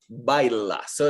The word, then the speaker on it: bailas: Baila. So it's a singular L, so you pronounce the L.